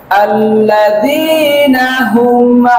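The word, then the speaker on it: الَّذِينَ هُمْ: আবার বলুন, আল্লাযীনা হুম আন সালাতিহিম সাহুন, আল্লাযীনা হুম আন সালাতিহিম সাহুন।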